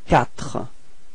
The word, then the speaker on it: quatre: Q plus U gives you the sound K. Okay, so in this word you get the sound quatre. Quatre.